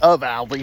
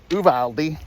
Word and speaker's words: Uvalde: there in uvalde uh people are pronouncing of aldi it's uvaldi uvaldi i think it's an it's a native american name um so well let's